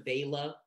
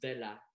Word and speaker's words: Vela: not finish this line, whitewashing my surname into Vela. I reacquaint myself with the candlewick softness of my mother tongue at age 15, and remember my surname is pronounced Vela.